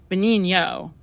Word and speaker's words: Benigno: I think it's because in Italy the N would be silent, so it would be Benigno, right? Yeah, I just say my mom really didn't pronounce things properly, and I don't even know like why we switched the name. So is it spelled Benigno? Yes, Benigno, but the N is silent after the G.